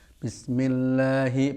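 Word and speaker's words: بسم الله: Kemudian sukunnya sin, hati-hati jangan sampai menjadi bism ya. Nah, tidak betul. Itu namanya tawallud ya. Sukun melahirkan harokat. Tapi jangan sampai diputus. Tidak betul juga ya. Ya. Bismillahi panjangnya Allahi ya.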